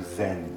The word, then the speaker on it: Zen: As Buddhism went from India to China, the word dhyan became pronounced as chan. As it traveled to Japan, it further got mispronounced into Zen.